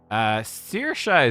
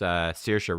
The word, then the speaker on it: Saoirse: Saoirse is reasonably common, but they've put in a pun. It's normally like, you know, if you think of the actress, Saoirse Ronan, it'd be like Saoi or Se, Saoirse.